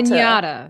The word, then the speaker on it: piñata: Pinñata.